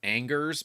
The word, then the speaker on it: Angers: His last name is spelled Angers, but it's Ange.